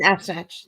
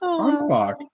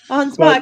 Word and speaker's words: Ansbach: All right, so yeah, it's Ansbach. Ansbach. It doesn't look like it's spelt.